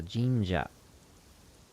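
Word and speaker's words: 神社: that the naginata master he looks at the Ginga is how you say Shrine in Japanese so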